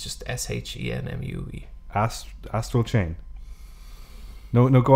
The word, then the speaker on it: Shenmue: It's pronounced like Shenmue. Like it's just S-H-E-N-M-U-E.